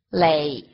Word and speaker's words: 来: 记住咯，它是念成雷雷。